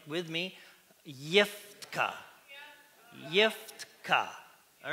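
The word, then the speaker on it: יפתח: In the Hebrew text, this is how you say it. I have to remember it. Yiftka.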